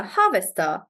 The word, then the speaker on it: harvester: great um so Harvester Harvester so remember how I told you that generally for two or three syllables it'll be on the first syllable so that way Harvester